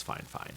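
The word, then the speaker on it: FIFINE: That's just how they pronounce it as fine fine, not fine.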